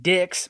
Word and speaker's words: Dix: His name is Justin Dix, but that's Dick, D-I-X, but it sounds like the word dick to me.